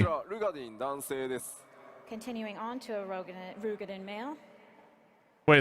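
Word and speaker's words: Roegadyn: はい、では続いて I am more blown away that it's pronounced Rugadin and not Let's Rogadin.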